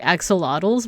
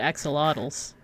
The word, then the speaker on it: axolotl: So that's why like axolotls, by the way. Let's look at axolotls. Axolotl. The same coworker told me that it's actually pronounced axolotl. So not axolotl, but axolotl.